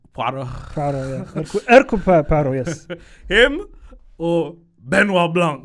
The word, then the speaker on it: Hercule Poirot: Hercule Poirot. Hercule Poirot. Poirot. Yeah. Hercule Poirot, yes.